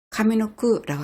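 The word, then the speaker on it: 上の句: 그래서 이거는 카미노쿠노구라고 하지 아니하고 카미노크라고 합니다.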